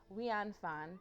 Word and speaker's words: Nguyễn Phan: Wanfan, there it is.